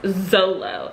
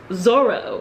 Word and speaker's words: Zoro: zolo and i just i don't think i've ever heard any pronunciation even in the english translation of the anime of his name as zolo it's zoro why because zoro exists in